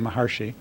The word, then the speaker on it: Maharishi: in fairfield know who maharishi mahesh yogi is or as we often pronounce his name maharshi and his name is